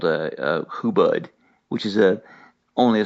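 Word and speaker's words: hubud: tie and untie and who but it's just like it's spelled it's h-u-b-u-d if you get on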